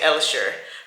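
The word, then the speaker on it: Hellshire: And then we're going to make our way to Helsure Beach. But if you're Jamaican, you say Elsure because they don't pronounce H's.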